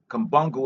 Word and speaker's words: Kimbangu: Kumbungu is spelled Kimbangu.